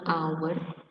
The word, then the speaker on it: hour: Kalau yang sini an hour ada huruf H-nya tapi bacanya hour dimulai dengan vokal. Yang a herb berawalan H tapi tetap bunyinya H.